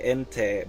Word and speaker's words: Entei: No, I say Entei because that's how you pronounce it in Japanese.